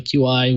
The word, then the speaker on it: Qi: I mean, I know Android has really, kind of embraced wireless charging and the Qi charging protocol, or Qi, the QI, what I can never pronounce it.